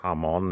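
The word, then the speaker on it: jamón: in barcelona we had ham on spelt jamon in english but it's ham on in spanish it's damn and it's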